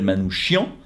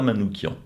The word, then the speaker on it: Manouchian: le même nom mais c'est lui qui voulait qu'on l'appelle Manouchian parce que en français sur son passeport n scen son nom était manouchiant et donc il voulait qu'on prononce comme ça et pas manouquian et de la même